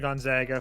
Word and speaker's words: Gonzaga: segment really quickly and did he say gon zaga is that what he said I didn't say know I heard toast like purposely targets the pronunciation to avoid the question we've been good for for 25 years and people still can't get Gonzaga right like it's just irritating